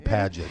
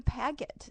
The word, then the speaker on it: Pagitt: you might know that it's a soft G in padet as in padet radio well so people call you pagot sometimes oh they call me pag it all the time and I lecture him I lecture him about the rules of a g in the soft G in the middle when it's before an